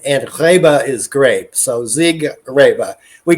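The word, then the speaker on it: Siegerrebe: we pronounce it yeah we always anglicize it you know we don't even have the German accent right it means Champion grape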